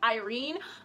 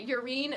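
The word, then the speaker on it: Yrene: wife I realized that her name is technically pronounced Irene but I've been pronouncing it you're een so I'm sorry so Roman and leave and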